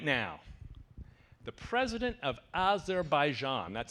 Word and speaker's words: Azerbaijan: is a movement right now the president of Azerbaijan that's how you pronounce it Marybeth the President of Azerbaijan said